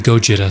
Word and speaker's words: Gojira: The person in the Gojira suit was unknown at the time. I believe that's the original pronunciation, the Japanese pronunciation of Godzilla, but the story the actor has with Gojira is odd.